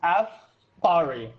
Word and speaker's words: Apari: Just think of it like this: Afari, like just Fari.